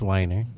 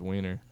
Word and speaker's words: Weiner: proof he's sending pics i'm sure you're pronouncing it wrong i'm sure it's whiner yeah i don't know the pressure's wiener dude if i was